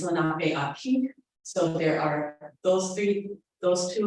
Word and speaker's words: Lenape Aki: There are two that are spoken today, one being Lenami, that's where Lenape Hoki pronunciation comes from Muncie for my people, is Lenape Aki.